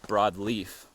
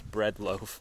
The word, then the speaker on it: Breadloaf: I thought it was Broadleaf, but it was Breadloaf Mountain.